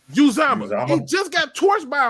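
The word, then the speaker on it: Uzomah: CJ Uzama. Uzama.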